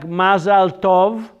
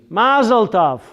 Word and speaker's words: mazal tov: Mazel tov. You've ever heard mazel tov? Mazel tov is Yiddish. Hebrew is mazal tov. Mazal tov, not tav. Tov. Mazal Tov. In Yiddish is said Mazel Tov.